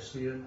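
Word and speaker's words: Xian: S-E-E apostrophe N. X-I-A-N. Sien. Oh, X-I-A-N.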